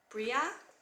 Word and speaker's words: Bhreagh: It's spelled a little differently. It's like Bhreagh.